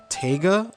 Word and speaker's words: Taiga: cat called I think it's pronounced taiga or taiga but it's spelled ta IgA and I think it's taiga but so he missed